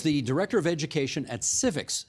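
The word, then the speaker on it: CIVIX: Ken is the Director of Education at Civics, C-I-V-I-X is how you spell it, Civics Canada.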